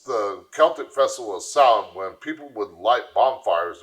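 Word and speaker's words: Samhain: Festival of sin now a lot of people see that word and think it says Sam no the word is pronounced s now when people it's the Celtic Festival of sound when people would light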